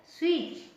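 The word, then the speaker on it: switch: मीस सीधे चले जाओ एस डब्लू आई टी सी एच स्विच स्विच इसमें टी सालिम है ओ एन ऑन स्विच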